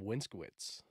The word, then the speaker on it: Winskowicz: sweet uh welcoming back to the pod winskwitz we get it geez you're the only guys